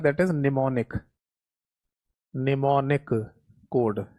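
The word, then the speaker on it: mnemonic: That is निमोनिक। निमोनिक code या निमोनिक्स भी कह देते हैं। इसमें एम साइलेंट रहता है।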